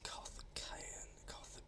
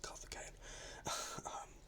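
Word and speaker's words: Karthikeyan: HRT, that was Carthagena. I actually pronounced the name right. Words, Carthagena.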